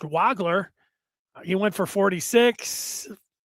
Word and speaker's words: Wagler: Wagler, I say it like that because it looked like Wagler, but it's pronounced Wagler.